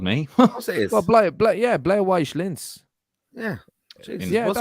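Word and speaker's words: Blau-Weiß Linz: Martin, do you want to pronounce this one? Go on, go for it. Blauweiss Linz. That was very good. Actually, that's actually it. No, that's actually it. Showed me. What's it is? Well, Blauweiss Linz.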